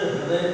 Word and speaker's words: हृदय: आप अंग्रेजी में स्पेलिंग लिखेंगे तो क्या पाएंगे? ऐसे लिखेंगे ना, ऋतिक की स्पेलिंग लिखें, हम ऋतिक बोलते लिखेंगे, स्पेलिंग ऐसे शुरू होती है। ठीक वैसे ही हृदय एच से ही प्रारंभ होगा स्पेलिंग। हमें हाँ बोलना होगा, हम अक्सर हृदय बोलते हैं, हृदय, ये गलत है।